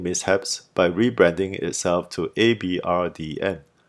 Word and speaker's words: abrdn: Aberdeen then continued its branding mishaps by rebranding itself to Abrdn, pronounced the same way but spelt without all the E's.